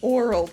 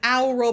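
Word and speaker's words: Aural: i could have said owl roll but that's not how you say it no no it's pronounced oral the same way as oral it's very confusing but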